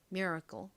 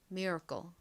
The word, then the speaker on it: miracle: cle 한국식으로는 미라클 미국식으로는 miracle 이렇게 a 살짝 힘빠진 어 소리가 나고요 끝에는처럼 발음이 됩니다 miracle